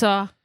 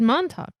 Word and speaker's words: Montauk: I said Montauk. I don't hear a K in this pronunciation.